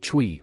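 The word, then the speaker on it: 吹: Chue, pronounced like chui with a forceful exhale, which is associated with the kidneys.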